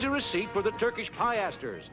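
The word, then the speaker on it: piaster: receipt for the turkish piesters it's pronounced peasters not pie asters and those coins must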